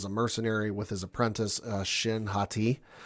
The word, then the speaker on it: Shin Hati: Baylan Skoll is a former Jedi, now is a mercenary with his apprentice, Shin Hati, I believe is how you pronounce the name, who rescues a, former Imperial Night Sister.